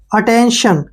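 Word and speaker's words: attention: है ठीक है ना टी आई ओ एन इसका जो मतलब लगेगा वो श के रूप में होगा किस चीज के होगा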